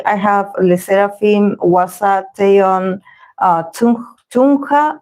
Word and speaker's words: Chungha: I have Ateez, I have Illit, I have Itzy, I have Sserafim, Hwasa, Taeyeon, Chungha, I believe it's pronounced Chungha, not Chuna, Chungha, Babymonster, Jaejoong, Kiikii, and BTS Hobi, BTS J-hope.